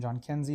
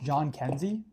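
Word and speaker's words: Jhonkensy: McMahon, Peter Lonzo, nice wall drip, and John Kenzie Noel. Fun fact, it's just pronounced John Kenzie.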